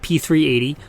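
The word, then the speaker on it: P3AT: stock though P38 and it's pronounced like p380 but it's not spelled that way it's the keltech p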